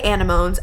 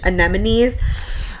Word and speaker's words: anemones: is the Vintage um anemones wallpaper I think is how you say it I always want to say animals I know that's not how you say it I'm pretty positive it's vintage anemones this one is kind